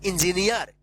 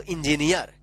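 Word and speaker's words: engineer: career ship ध्यान रखिएगा double E के बाद अगर लास्ट में आर रहता है तो वहां पे क्या उच्चारण होगा ईयर उच्चारण होगा ईयर ईयर जैसे यहां पे देखिए इंजीनियर एन के बाद डबल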